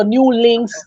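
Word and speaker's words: Nulinkz: audience it spelled it's spelled n-u-l-i-n-k-z so new links Rhythm so they could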